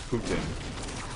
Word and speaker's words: poutine: In Quebec, where I live, we have this this food called poutine, and I guess the English way of pronouncing it is Putin.